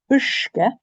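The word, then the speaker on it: uisge: Ushke. Ushke. So here the S, remember, near the I, the S is pronounced like a sh.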